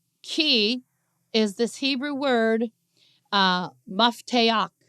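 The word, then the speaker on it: מפתח: Now this word key is this Hebrew word, mafteach is how you say it in Hebrew, mafteach.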